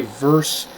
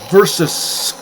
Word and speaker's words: versus: What really pisses me off is when people say verse in place of versus. It's versus. 2 syllables with a hard S at the end.